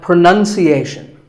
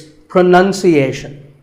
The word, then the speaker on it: pronunciation: Well, we say pronounce, pronounced, and pronouncing, but pronunciation. There's no noun in this word. It's pronunciation.